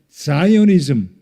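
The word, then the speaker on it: Zionism: 그래서 시오니즘이 바로 다윗으로부터 시작됩니다. 시오니즘 영어적인 발음 표현으로 하면 자이오니즘 유대인들은 지금도 시온산으로 돌아옵니다.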